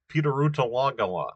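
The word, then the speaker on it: Pidurutalagala: It's got, even the stressed syllable mark. It's Pitarutalagala, okay, is the pronunciation of this.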